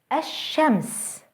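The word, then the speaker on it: الشمس: by a sun letter a shems ashems notice how the sun letter is doubled and how the l sound is lost now let's take a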